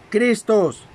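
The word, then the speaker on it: Χριστός: M-A-S-H-I-A-K-H, Mashiach, y de la griega Christos, con K y acento en la O, Christos.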